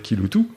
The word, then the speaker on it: Kiloutou: Donc il faut qu'on ait compris que Kiloutou veut dire Kiloutou, alors que ça s'écrit évidemment pas comme on l'entend.